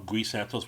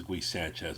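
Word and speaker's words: Gui Santos: Quentin Post, like that guy, or some other low level Guy Santos, one of those type guys, would have to be moved out. And I just remember someone mispronounced his name as Guy Sanchez.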